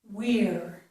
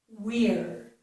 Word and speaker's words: we're: The stressed pronunciation is we're, we're. So the part after the W, after the W, is ear, ear.